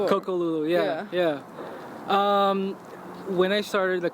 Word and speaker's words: Coco Lulu: Coco Lulu? Or? Coco Lulu, yeah.